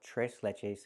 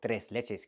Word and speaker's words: tres leches: We use the Spanish name and we call it tres leches cake or tres leches cake, depending on your pronunciation.